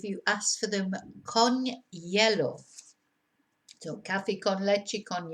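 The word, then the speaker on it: hielo: ask for them con yellow so Cafe Con lechik on yellow Cafe solo con yellow cafe Americano con yellow yellow of course is uh ice is pronounced yellow because you don't pronounce the h and what you will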